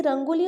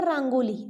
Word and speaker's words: Rangoli: We can say Rangoli or Rangoli. Okay. So Rang means color. Rang means color. And Avli means raw or wine. So Rangoli consists of two words. Rang means color. Some pronounce as Rangoli, whereas some pronounce it as Rangoli.